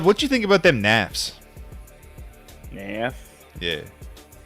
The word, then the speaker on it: nafs: Nafs.